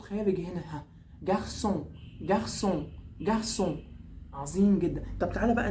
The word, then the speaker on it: garçon: اقول لك عشان هنا السي تحتيها ثلاثة كده، حرف الثلاثة بنسميها في اللغة الفرنسية سي سي دي. سي سي دي بتتنطق ايه؟ السي اهي بتتنطق اس اس. فناخد بالنا قوي قوي لو جات لنا اي كلمه فيها السي سي دي بتنطق اس اس عادي.